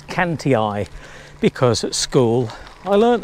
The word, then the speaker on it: Cantii: Romans came along and they called them the Canty eye and the reason it's I on the end